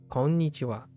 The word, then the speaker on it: こんにちは: Watch out for the ha, but wa at the end, which is always pronounced. Konnichiwa.